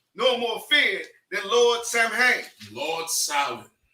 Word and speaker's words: Samhain: No Druid god was more powerful, nor more feared than Lord Samhain. Lord Samhain. Right? Say Samhain, all right? Not Samhain. Samhain. That's how it's pronounced.